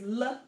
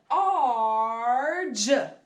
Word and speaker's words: large: And then you can see GE at the end of a word. So large, not larg.